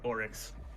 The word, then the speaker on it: Oryx: Pronunciation, I know, close to Onyx, but his name is like Oryx.